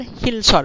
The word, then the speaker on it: শিলচর: রাজ্যের সেনাপতি শিলারায়ের নাম থেকে শিলচর হয়েছে তখন শিলচরে উচ্চারণ করে আসামি মানুষও আর কেউ কেউ কয় না এখানে বড় বড় পাথর আছিল পাথরের অসমীয়া হইল হিল হিল উচ্চারণ করে তো কেউ কেউ আবার হিলচর উচ্চারণ করে হিলচর তো এই পার্থক্যটা কিন্তু বর্তমান